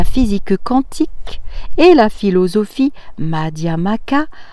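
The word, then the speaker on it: Madhyamaka: conférence sur la physique quantique et la philosophie madiama cas alors je fais une parenthèse madiama cas ça s'écrit m à d h y a m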